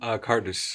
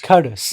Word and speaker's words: Qardus: Am I pronouncing it correctly, Hassan? Qardus. Qardus.